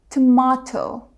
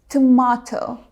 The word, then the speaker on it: tomato: But British speakers say tomato, tomato. Can you hear the difference? Same language, same words, same spelling, but completely different sounds.